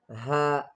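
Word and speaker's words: هاء: Then Ha. Ha. Ha is pronounced from the lower part of the throat.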